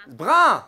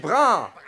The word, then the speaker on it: brun: You know, sometimes it's not brown. I don't know... "Brown" Sorry, I'm mispronouncing it. "Brun" "brun". I'm having a Ch'ti lesson tonight.